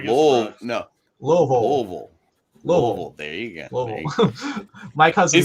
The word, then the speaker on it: Louisville: You got to say it like you got a mouth full of rocks. That's what you said. Louisville. Hold on, let me get Louisville. There you go. Louisville.